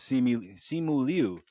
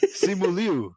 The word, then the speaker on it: Simu Liu: Simu Liu. That's his name, right? Shang-Chi? It's just Simu Liu, nigga. This nigga said Liu. Simu Liu. Okay. It's spelled L-I-U, so that kind of messed me up.